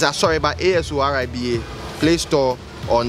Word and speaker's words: Asoriba: Okay, so to access the mobile app, you go to the Play Store and search for Asoriba. It's spelled A-S-O-R-I-B-A, not R-E-B-A, R-I-B-A, Asoriba.